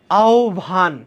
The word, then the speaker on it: আহ্বান: কোন সমস্যা নাই তারপরে দেখো আহবান শব্দটি শুদ্ধ উচ্চারণ কি আহবান আহারে ভাইয়া আহবান এই জিনিস না এটা ছোটবেলা থেকে আমি পড়ে আসি আও ভান কি ভান আও ভান মনে রাখবা আও ভান